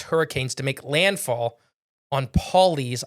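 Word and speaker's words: Pawleys: to make landfall on Paulie's Island p a WL e y's Island Paul PA like Paulie yeah uh so yeah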